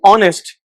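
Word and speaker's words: honest: ही इज़ ऑनेस्ट। होनेस्टली guys as silent है।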